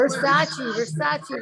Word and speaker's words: Versaci: Another first timer tonight is Versaci, right? Did I pronounce it correctly? Versaci, like the designer.